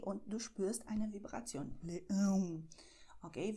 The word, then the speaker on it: leão: Leão. Okay, wenn du Leão sagst oder Leões. Okay, da ist ein bisschen eine Vibration.